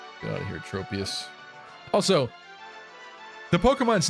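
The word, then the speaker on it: Tropius: get out of here tropus also the Pokemon's name right this this Pokemon's name I think most people would pronounce this tropus right but it's trop like tropical so is it tropus is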